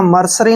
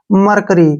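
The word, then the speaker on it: mercury: वाई ठीक है ना मरसरी नहीं पढ़ना हमने इसको कैसे पढ़ेंगे हम ध्यान से देखिए एम ई आर ठीक है ना एम का उच्चारण हम म करते हैं और ई आर का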